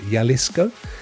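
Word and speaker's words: Jalisco: from Michigan two hours south of Guadalajara and yalisco or is that how you pronounce that my friend yalisco uh there you go I didn't know that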